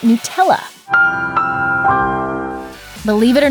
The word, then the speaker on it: Nutella: While some stress the "nut" part of the word, the correct pronunciation is 'new-TELL-uh'.